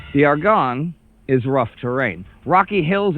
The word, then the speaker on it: Argonne: say it at all hopefully I got it argon kind of like Lord of the Rings kind of like where